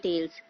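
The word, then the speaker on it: Gnetales: कोनि fails एफड्स एंड टेल्स टेल्स में जी जो हमारा रहता है वोह साइलेंट रहता है द साइकल्स आर रिप्रेजेंटेड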